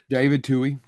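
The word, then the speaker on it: Twohy: I will give it to um how do you pronounce the director writer? Tui t David Tui.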